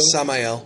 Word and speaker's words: Samael: them something like another version of what's it, Samuel? How you pronounce it, Samuel? Samael.